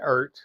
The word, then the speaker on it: Eart: I call it Eart. That's how it's spelled.